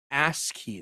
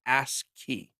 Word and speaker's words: ASCII: This is pronounced ASCII, they say. Like ASCII.